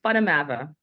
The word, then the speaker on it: Van der Merwe: Just because growing up in South Africa, it's actually pronounced, it's Dutch, and it's pronounced Van Der Merwe. And it just kind of rolls.